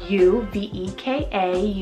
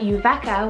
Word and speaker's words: Uveka: Uveka, spell U-V-E-K-A, Uveka. I hope I'm pronouncing that one right. I mean, in English, that's how we would pronounce it, but it is a